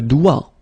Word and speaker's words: doigt: Okay, so don't be frightened by this G, because basically you don't pronounce it, and then the final T you don't pronounce it. So the only thing you get to pronounce is this combination of three letters, sorry, here, D, O, I, okay? O, I, it's wa, and then D, doigt.